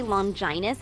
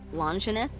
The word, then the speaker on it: Longinus: I got to ask why do you say long Giant instead of longinus because it is the proper way to pronounce it though some regions say it the other way it's just longinus sounds